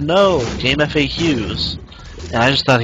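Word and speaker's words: GameFAQs: And I was like, I tried to go to GameFacts, but there's nothing there. And he said, no, Game FAQs. And I just thought he was crazy for pronouncing FAQs as facts.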